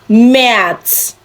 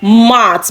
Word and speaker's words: März: March is März, not Mart, because the A here now is not A, it's the A umlaut.